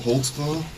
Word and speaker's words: Holtzclaw: there because i don't even know how to spell it how do you say it daniel holtzclaw volkswagen what is that it's a german can